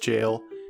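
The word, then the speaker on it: gaol: among quest's player base g a o and l literally pronounced jail is derived from the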